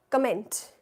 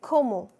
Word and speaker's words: comment: we saying come or why aren't we saying comment no in French you say como Right.